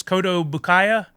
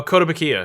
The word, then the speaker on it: Kotobukiya: Koto Bukaya, Oh, Kotobukiya.